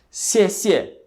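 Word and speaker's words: 谢谢: aprender é esta aqui esse pronuncia se esse é quarto Tom Ok significa Obrigado o caractere se se escreve desta maneira lembrando ordem dos traços de cima abaixo da esquerda para a direita e a CSE significa obrigado é o caractere duas vezes Ok obrigado CSE e lembrando a pronúncia é no quarto Tom Ok se é é o Tom que desce se em seguida nós temos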